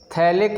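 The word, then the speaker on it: phthalic: लिख लेंगे, reaction with थैलिक anhydride, reaction with थैलिक anhydride, इसमें पी साइलेंट होता है।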